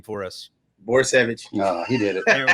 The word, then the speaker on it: Borysewicz: Borysewicz.